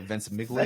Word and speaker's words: Ventimiglia: It stars Milo, and I've never quite known how to pronounce his surname here, Ventimiglia.